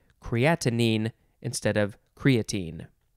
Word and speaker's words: creatinine: next word is creatinine so we added a syllable we had creatine and this is creatinine c-r-e-a-t-i-n-i-n-e yeah or you could